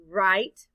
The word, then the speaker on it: write: The letter I stands for the long I sound. And the E is silent.